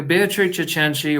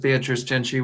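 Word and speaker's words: Beatrice Cenci: this particular release yeah beatric cheni or just beatric cheni whichever pronunciation you choose to go with betri is you know technically correct with the Italian but you know depends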